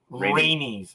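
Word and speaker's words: Rhaenys: does as well I don't know how to pronounce her name it's Rainier rainey's okay thank you it's similar rainey's showed us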